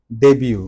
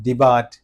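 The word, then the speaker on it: debut: no alright এটা হচ্ছে ডেবিউ ওই যে ক্রিকেটাররা যে প্রথমবার হ্যাঁ এটা হচ্ছে ডেবিউ টি টা হচ্ছে না আর কি ডেবিউ ডেবিউ অলরাইট ডেবিউ অনেকে আবার বলে ডিবাট ডিভোর্ট কাইন্ড অফ হ্যাঁ প্রথমবার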